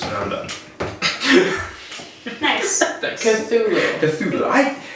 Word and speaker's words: Cthulhu: I've heard it pronounced both ways. Are you like I a think it's French pronounced both person? ways. Oh, really? Yeah. I mean, it's supposed to be an approximation of something that humans cannot physically speak.